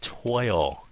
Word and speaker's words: toil: So các bạn cứ đừng có ngại miệng, sợ phát âm nghe nó giống hai âm, mà thật sự mấy cái âm này nghe giống hai âm lắm.